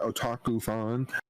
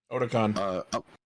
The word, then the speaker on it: Otakon: All right, Discotek gave us some good shit this year at Otaku-fan. Otakon. Otakon. Is that how you pronounce it?